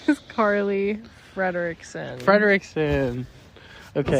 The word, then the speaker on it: Frederickson: My name is Carly Frederickson. Frederickson. Okay. Some people pronounce it Frederickson, but that's actually wrong. Wait, really? Yeah, it's Frederickson because there's two E's.